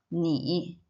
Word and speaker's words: 你: The pronunciation here is 你.